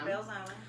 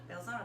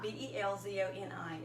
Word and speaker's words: Belzoni: Belzona. Belzona? Belzona. That's how you pronounce it. Belzona. Belzoni.